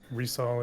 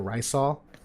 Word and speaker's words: Rysol: I was calling her Lisa um but yeah resale is is what they how they pronounced it actually in the story Mission okay so I've been calling her rice all uh I literally filmed my character review today